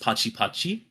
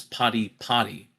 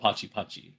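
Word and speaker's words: Pati Pati: And it's called, uh, uh, it's spelled p a t i p a t i. So, I put in parentheses I think like pronounced Pachi Pachi because if you didn't know that, like, oh, it's Potty Potty, but it's not. It's called Pachi Pachi.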